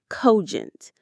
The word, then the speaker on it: cogent: This is a wonderful advanced word cogent. Let's pronounce it cogent. Cogent. The stress is right at the beginning.